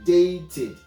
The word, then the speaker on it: dated: We said that whenever the simple past tense regular is pronounced as it, it means that the consonant should end with T or D, either T or D. And when that happens, we are going to pronounce it as it.